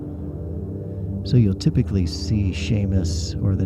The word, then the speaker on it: Seamus: whatever the case in the Gaelic language s e and Si are pronounced the same as an uh an American English sh so you'll typically see Sheamus or the name Shawn